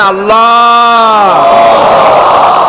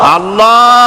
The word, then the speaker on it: আল্লাহ: পাকের নাম হচ্ছে আল্লাহ মুখটা একটু গোল হয়ে যাবে বলেন আল্লাহ আল্লাহ পৃথিবীতে বিভিন্ন জাতি তার